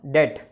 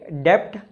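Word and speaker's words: debt: Meaning unable to पे once डेट। अब ये डेप्ट नहीं है, इसे बोलते हैं डेट, मतलब उधार या फिर दिवालिया हो जाना।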